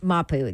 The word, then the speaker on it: Mapu: Mapu.